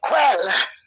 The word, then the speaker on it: kveld: In Norwegian, we say quell.